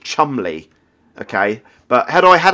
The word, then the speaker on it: Cholmondeley: would have called him Chumley. And Chumley's spelled a weird name. Cholmondeley. I think that's how you spell it.